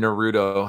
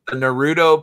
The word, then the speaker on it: Naruto: Put the emphasis on the na rather than the ru.